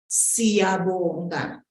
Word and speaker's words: Siyabonga: Siyabonga, siyabonga, siyabonga, siyabonga.